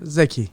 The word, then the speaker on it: Zeki: But I want to let everybody know that we have, it's pronounced Zeki, right? Zeki.